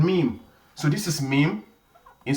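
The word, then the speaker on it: Meem: we shall be looking at what is called meme.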